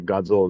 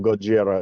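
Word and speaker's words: ゴジラ: they just kind of took the sort of the pronunciation of Gojira if you if you try to pronounce like an American would and that's Godzilla and it has Raymond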